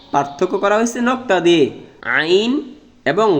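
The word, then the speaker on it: ع: আইন এবং গইন, আইন এবং গইনের মধ্যে পার্থক্য হলো নক্তা। আইন হবে খালি, আর আইনের উপর যদি এক নক্তা থাকে তাহলে সে গইন। আইনের উচ্চারণ হবে শক্ত, গইনের উচ্চারণ মোটা।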